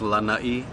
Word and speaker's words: Lanai: Yes, a lot of people don't put the two together, but I guess because it's pronounced Lanai, there's they don't put the two together.